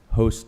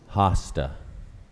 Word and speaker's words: hosta: speller number 25 hasta also pronounced host but preferred pronunciation is hosta hosta host:2 that's correct